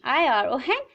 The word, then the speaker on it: iron: I-R-O-N iron. और जो है साइलेंट रहता है.